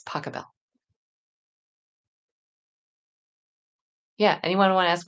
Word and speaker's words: Pachelbel: It's Pachelbel. Yeah. Anyone want to ask me how to pronounce composers?